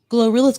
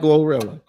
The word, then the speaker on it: GloRilla: like oh my gosh gorilla's gonna make me like her no I that's no no no no no no no you gotta say it correctly y'all not gonna make me like glorilla she's probably the female